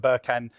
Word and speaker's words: Berkan: revealing the hidden audience uh provocative title from birken to nabolo hopefully our pronoun is pronounced that right birken um who's the media director for gsk um